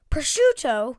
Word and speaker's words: prosciutto: Prosciutto? It's pronounced prosciutto.